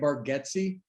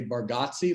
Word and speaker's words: Bargatze: anywhere important oh yeah so we say it bargetsi and i honestly think we say it wrong as a family i think our southerness like have just kind of changed it and so like in new york everybody would say barghotzi like right the barghozzi solo and so a lot of people say it like that uh but you